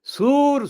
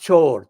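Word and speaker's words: চোর: appeared, people started saying, Sur, Sur, Sur. Unlike Imran Khan's Urdu pronunciation, the Siloti pronunciation is different accent. Not chor, chor, chor. It's Sur, Sur, Sur.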